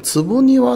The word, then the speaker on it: 坪庭: 間にねわかってんのかな読み方あってるのかなあってますね坪庭でいいみたいですねコトバンクっ